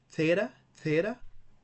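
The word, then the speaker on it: θήτα: Theta is pronounced like TH in theology.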